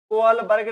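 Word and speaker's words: Kohlberg: और याद रखना यहां पर प्रोनाउंसिएशन के लिए कोहलबर्ग ने इसे समझाया। मैं आपको बता दूं, एक कोहलर हैं, एक कोहलमान है और एक कोहलबर्ग हैं, ये सब अलग अलग हैं।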